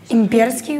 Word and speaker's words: имперский: Имперский, ударение на «е».